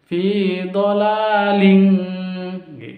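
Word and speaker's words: ضلال كبير: Tapi kalau kaf harus ditambah dengan ng. Fi dhalaling, seperti itu.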